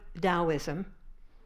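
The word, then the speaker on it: Taoism: some of you have heard of dosm that's spelled t a o i m in the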